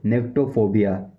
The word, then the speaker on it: nyctophobia: निक्टो निक्टो निक्टोफोबिया। इसकी spelling है NYCTOPHOBIA।